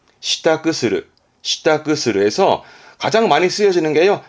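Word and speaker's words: 支度: 발음은 시타크, 시타크스르, 시타크스르에서 가장 많이 쓰여지는 게요.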